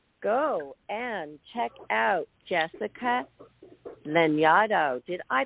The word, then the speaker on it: Lanyadoo: Go and check out Jessica Lanyadoo. Did I pronounce it correctly?